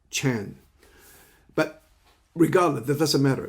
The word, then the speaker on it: Chan: Well, Zen is already dominated in the world of Zen, which the Zen Buddhism, in the Chinese way, we pronounce it Chan.